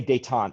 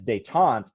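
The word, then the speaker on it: détente: war detente yeah yeah we say daetan but the intent is how i say in my head so i can spell it right but yeah it's they taunt and that means yeah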